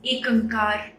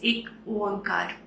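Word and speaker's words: ੴ: एक ओंकार, इस पे हमारी सारी गुरबानी बेस्ड है। एक ओंकार, एक ओंकार, एक अंकार, बहुत सारे इसके प्रोनाउंसिएशंस हैं, लेकिन मोस्ट एक्सेप्टेड प्रोनाउंसिएशन इज एक ओंकार।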